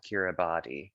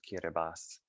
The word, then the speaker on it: Kiribati: week that's looks like it would be called kiribati but it's pronounced kiribati this is seychelles and here we are in